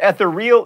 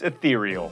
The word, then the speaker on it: ethereal: you go to edinburgh it's not ethereal it's ethereal this is not a